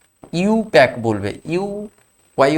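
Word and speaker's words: IUPAC: একের বারে অংশের সঙ্গে সমান আই ইউপিএসসি বা ইউপ্যাক যাকে বলা হয় আই ইউপিএসসি বলতে নেই ইউপ্যাক বলতে হয় আই ইউ পিএ সিসি আই ইউ পি এ সি ইউ প্যাক বলবে ইউ ওয়াই ও ইউ প্যাক এরকম আইউপিএসসি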